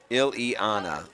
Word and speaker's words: Ileana: all the way around it's pronounced ill-ianna okay i will get that selena ileana calyx all right let's